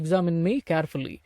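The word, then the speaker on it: examined: தனியா உச்சரிக்கும் பொழுது எக்ஸாமின்ட் அப்படின்னு தான் உச்சரிக்கணும். ஆனா இந்த வாக்கியத்துல பேசும் பொழுது இந்த டாக்டர் எக்ஸாமின்ட் மீ அப்படின்லாம் பேசிட்டு இருந்தா நல்லா இருக்காது. இந்த டாக்டர் எக்ஸாமின் மீ கேர்ஃபுல்லி, மருத்துவர் என்னை கவனமாக பரிசோதித்தார்.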